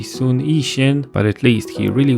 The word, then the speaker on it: 孫逸仙: A good example is the founder of the Republic of China, known in the West as Sun Yat-sen. By the way, this is also a Cantonese romanization. In Mandarin, that would be Sun Yixin, but at least he really was Cantonese.